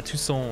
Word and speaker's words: Toussaint: some um for some for some tucson adventures or two song whatever two song adventures i know that's how you say it i just uh